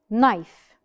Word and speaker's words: knife: a couple of examples knife knife as we could see here as we could see over here the letter K is not pronounced we do not pronounce